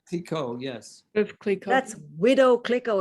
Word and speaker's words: Clicquot: Woof Clicquot, is that how you pronounce that name? Clicquot, yes.